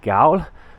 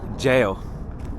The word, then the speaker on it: Gaol: have made it welcome to the Cork City gal I saw it online it looked really cool let's check it out I was definitely wrong because the Cork City Jail even though the spelling is g a o